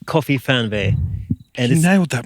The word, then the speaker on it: KOFIFERNWEH: So what you can see behind us is Dave's van called KOFIFERNWEH. And You nailed that pronunciation.